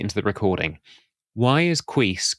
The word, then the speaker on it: Cuis: And in one part of the world, there's this little roadside hamstery thing, and the noise that makes is Cuis.